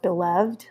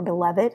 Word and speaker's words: beloved: word for chapter 44 beloved or beloved however you want to pronounce it either way is correct um and again look